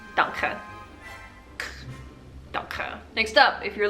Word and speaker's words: danke: Again, we just stole the German word and just made the K sound a little bit stronger, so it's not danke, it's danke.